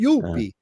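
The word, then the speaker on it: Youppi: Uh, mascot named Youpie, because in y- French that's how they say it, uh, Youpie. And yeah.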